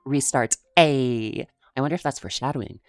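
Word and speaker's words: Ristarte: First off on the chopping block, we have Ristartse, pronounced Ristartse.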